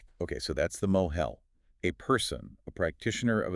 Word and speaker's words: mohel: Moel. A moel, that's spelled m o h e l, is a person, a human being.